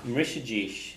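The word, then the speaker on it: mbrisfidís: So nach mrishajish an inyog. So nach is the question. Wouldn't someone do something? Or is it mrish? Mrishadish. So you pronounce the M.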